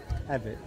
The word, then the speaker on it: Avit: Avit.